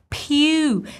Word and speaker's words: Pugh: So this P-U-G-H is pronounced as pew, same as in the word few.